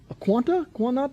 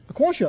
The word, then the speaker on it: Aquantia: Cisco, Aquanta, how you say it? Aquantia, okay.